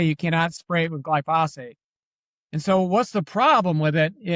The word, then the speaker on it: glyphosate: I want to cover, you mention a lot, I believe it's glyphosates. Am I saying it right? Glyphosate. Glyphosate, excuse me.